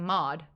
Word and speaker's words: Maude: My name is Maude, and no one can call me Maude because I'm Maude.